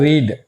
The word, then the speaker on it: read: पढ़ना, पढ़ना का अंग्रेजी होता है रीड, READ, तो रीड का V2 करेंगे तो स्पेलिंग यही रहता है READ, लेकिन उच्चारण इसका होता है रेड।